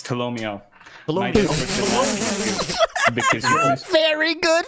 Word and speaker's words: Tolomeo: I always forget how to pronounce it. It's Tolomeo.